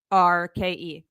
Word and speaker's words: Rourke: It's Rourke. That guy, I don't know.